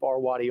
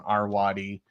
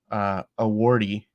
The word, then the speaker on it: Arwady: the internet on Allison Arwady, which Dick Simpson keeps mispronouncing as Awardy, but that's okay, Dick.